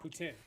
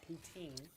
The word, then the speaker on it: poutine: Poutine, not poutine.